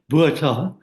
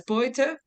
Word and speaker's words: Botha: Botha, the Prime Minister's name was Botha. Botha. How do you say that again, please? Boita? Botha, yeah. Like B-O-Y, Boita? Oh, no, Botha. B-O-T, Yeah. yeah. But in Yiddish we pronounce it as Boita.